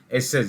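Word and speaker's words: assess: एस A double S ई एस एस इ एसस यानी कि किसी चीज को एसेस करना उसको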